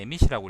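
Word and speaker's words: 蝦夷: 하이라는 거는 그 일본어로는 이제 에미시라고 읽는데 대화 쪽에 살던 원숭이들하고 다르게 오른쪽 동일본 지역 있죠.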